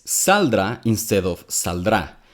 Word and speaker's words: saldrá: Que saldrá. Then he says saldrá instead of saldrá. He's putting the stress in the first syllable of the word instead of the second.